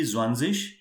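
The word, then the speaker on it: zwanzig: just make sure that this 20 will be zwanzis 30 will be drivish 40 will be fierce-ish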